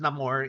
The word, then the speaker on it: Namor: By the way, it's pronounced Namor in in the yeah, movie.